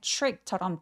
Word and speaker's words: trick: 그리고 트릭보다는 trick처럼 TR은 추라고 발음해 주세요.